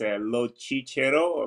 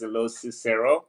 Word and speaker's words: Locicero: It's an Italian name. It's Locicero, but in English it's Locicero, I guess.